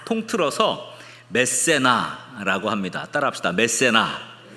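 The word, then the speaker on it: Mécénat: 그것은 집합 명사인데 그래서 그게 뒤에 붙어서 메세나가 이제 발음으로는 티발음 안 하죠.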